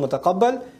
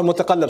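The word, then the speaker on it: مُتَقَلَّب: So this dunya is called mutaqabbal. Or mutaqallab, sorry. I keep mispronouncing it.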